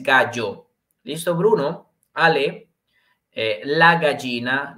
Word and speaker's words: gallo: también vimos obviamente que en español la pronunciación de la doble l ok que es yaya y yo yo y quede en italia no tiene su pronunciación como él porque entonces si lo diríamos en italia no sería galo pero recuerden que en pronunciación es gallo liso bruno ale la